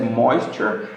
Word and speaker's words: moisture: A pronúncia é moisture on that part. Então, beleza. It's important to waterproof the roof to avoid moisture, né? Então a gente fala como se fosse um M-O com acento, moisture on that part.